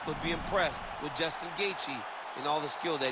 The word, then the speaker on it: Gaethje: there from Bruce Buffer he even pronounced gatei Right congratulations to Justin on